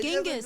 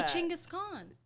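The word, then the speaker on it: Genghis Khan: That's how they say it. They don't say they don't say Genghis. They say Changaskhan. Yeah. The actual name is Chenis Khan.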